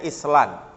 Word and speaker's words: island: Tapi ada juga yang nggak dibunyikan, misalnya tulisannya Island, island. Nah, di mana itu S-nya itu?